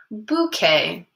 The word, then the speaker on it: bouquet: Bouquet. Can you guys say that word with me? Bouquet. It starts with a B. It's spelled a little differently at the end.